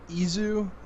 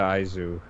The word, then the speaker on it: Aizu: Takuya Izu? Aizu? Is that how you I pronounce believe it? it's Takuya Aizu. Aizu.